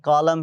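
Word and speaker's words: column: कॉलम है, एन नहीं पढ़ रहा है।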